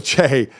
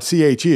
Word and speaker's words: Che: his last name, Michael I keep Che. Pronouncing it wrong. Michael Che, yeah, it's not hard, C-H-E, it shouldn't be that hard to pronounce.